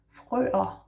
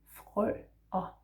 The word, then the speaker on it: frøer: So the plural form is frøer. Frøer. So F and the R in the throat, and then frø. The ER makes an A.